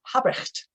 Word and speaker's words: Habrecht: as a client, and the name is Habrecht, but you can see that the R's are not pronounced really hard.